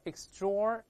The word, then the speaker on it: extraordinary: 在美音中呢，这个 TR 这个后面的 OR 要加个卷舌音， TR 要浊化，所以读成 extraordinary，带来一遍 extraordinary。